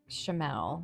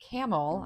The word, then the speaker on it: Chamelle: Felix says hey well that should say chamelle so they spelled their name wrong but anyways hey camel I have a question